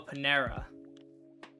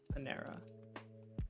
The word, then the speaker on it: Panera: Oh, Panera. It's not how it's spelled, but I see Panera. Spelled with an A. Pan-era.